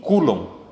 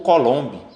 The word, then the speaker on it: Coulomb: É o físico Charles Augustin de Coulomb, tá certo? Ou Coulomb, que é como se escreve.